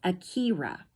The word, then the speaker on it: Akira: She pronounced it with the long e sound as Akira.